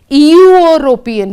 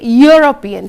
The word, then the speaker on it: European: Likewise, the word European, we don't say European. Do we say that? No, we say European. So again, it is a consonant sound U.